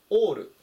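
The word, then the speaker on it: all: 発音に注意してください。あで始まらないで、おっていうふうに最初読み始めます。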